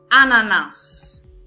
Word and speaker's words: ananás: Então, nós temos aqui a palavra ananás. Ananás. Então, eu pronunciei o último A de uma forma curta e, por esse motivo, só tem um S.